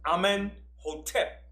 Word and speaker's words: Amenhotep: His son was Amenhotep the first. Okay? Now, a pharaoh in Egypt had two names. He had his birth name, which was Amenhotep, which means Amun is at peace with him.